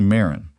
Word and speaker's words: Marin: I'd say Marin. Like the first syllable rhymes with care.